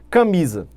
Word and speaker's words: camisa: Por exemplo, camisa. Camisa, olha a tonicidade na penúltima sílaba, é uma palavra paroxítona.